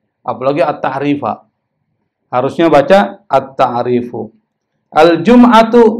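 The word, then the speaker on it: الجمعةُ: Al-jum'atu, boleh nggak dibaca al-jum'ata? Nggak boleh, dia jadi mubtada.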